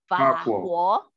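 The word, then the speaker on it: 法国: Perancis itu bacanya jadi apa? Fa-guo. Karena nadanya ketiga kan? Fa-guo. Ya, fa-guo.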